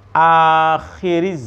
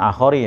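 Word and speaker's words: آخر: Bin Nabi, dengan seorang Nabi al-mab'usi, dengan seorang Nabi yang diutus akhiriz zamani, ya, bacanya akhir bukan akhori ya.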